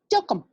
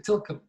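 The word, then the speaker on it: TLKM: He said, my real name is Tilcum. Il a répondu avec grand détail. Il a dit, mon nom c'est Tilcum.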